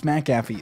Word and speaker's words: McAfee: one the only john mcafee it's mcafee it's spelled mcafee mcafee is the proper one to go the proper one to say and so uh first